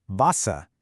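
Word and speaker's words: Wasser: So in English we say water, but in German that W is pronounced like an English V. So the word for water, Vasa, is pronounced vasa.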